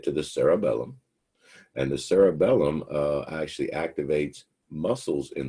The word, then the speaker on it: cerebellum: uh page 463 and that part back there and the word is pronounced the cerebellum not to be confused with cerebrum remember that's the brain the cerebellum is your mini brain again it's pronounced cerebellum the mini brain and